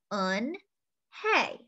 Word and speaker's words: Unhei: to say it hey anhei said her name again slowly and clearly on hey soon the kids began